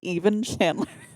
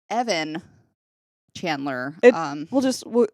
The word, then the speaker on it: Evan Chandler: Also, sidebar on that, she has been saying even Chandler. There's a legitimate reason that I can't go into because of HIPAA. Evan, people that I work with, they know. Yeah. Evan Chandler.